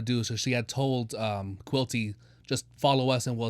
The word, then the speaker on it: Quilty: Other little tidbit: Quilty rhymes with guilty.